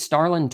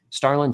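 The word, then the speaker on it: Stharlin: Uh this is Starland Torres. His name, I'm going to spell it for you because there is a surprise consonant in there.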